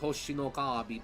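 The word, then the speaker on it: 星のカービィ: um City trial are all lifted directly from hoshino kabi I'm in fourth I know I sound like a total huieb pronouncing it hoshinookabi but that's how it's said that's how you're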